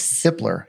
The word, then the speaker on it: Hiepler: So Cassidy Hiepler of Sotheby's International Realty. Close. Hiepler. Yes, that's it. Hiepler.